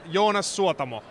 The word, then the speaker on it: Joonas Suotamo: Now, I'm just gonna give the correct pronunciation. oh, thank you. Practices this is home is Joonas Suotamo.